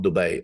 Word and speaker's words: Dubai: you're cringing because you want to correct me on Dubai I know you say it differently I promise you that's the way it's said it's an word people